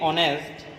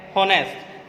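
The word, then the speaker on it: honest: गलती कर देते हैं, जैसे कि ऑनेस्ट। ऑनेस्ट उच्चारण अब आपको पता है, हॉनेस्ट, एच एक क्या है, एच एक हमारा कॉन्सोनेंट है यानी वह व्यंजन है। लेकिन जब हमने उच्चारण किया तो पाया कि ये ऑनेस्ट साउंड होता है, ऑनेस्ट, यानी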